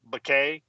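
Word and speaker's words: M'Bakay: That is Sam Bakay. You see that M-Bakay there, and you wonder, yes, that's correct. It is silent. The M is silent.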